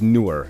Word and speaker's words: Nur: you go by the name newer connect the pronunciation is newer not right now a lot of people I'm sure say right but you don't you don't you don't